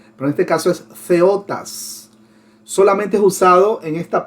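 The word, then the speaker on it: θεότης: Ahí tenemos la palabra TH significa, bueno, no es que significa, TH se pronuncia como Z, así como Theos, que significa Dios, pero en este caso es Theotas.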